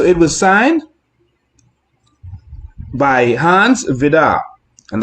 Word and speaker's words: Vide: And so it was signed by Hans Vidar. And that's how you pronounce it.